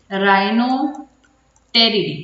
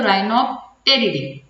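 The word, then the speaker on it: Rhinopteridae: उसके बाद थर्ड नहीं बल्कि लास्ट सेकेंड ही कह देती हूँ, राइनो टेरिडी। टी थोड़ा साइलेंट है तो राइनोप्टेरिडी, तो राइनोटेरिडी भी कह सकते हो आप इसको।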